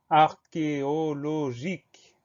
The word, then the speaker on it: archéologique: Alors attention, dans ce mot, il y a une grosse particularité, le son que va s'écrire CH. C'est rare, mais ça arrive, donc c'est le cas ici.